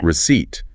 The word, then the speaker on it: receipt: Receipt. Receipt. No P sound.